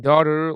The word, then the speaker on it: daughter: In daughter, leave the GH out.